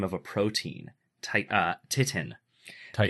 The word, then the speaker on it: titin: Titin. Titan. It's the what? Titan. Titin. Titan. You're wrong. It's not got an A. It's got an I. Anyway, I know. it's titin, the largest protein. It's like Titan.